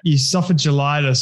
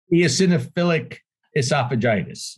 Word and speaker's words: eosinophilic esophagitis: to say what it is because i can't pronounce it it's uh esophagelitis or whatever it's called it's some weird eosinophilic esophagitis that's it yes i knew so i knew